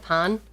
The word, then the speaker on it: pain: Pain sounds like pawn. Uh, that is how it's pronounced in French, isn't it?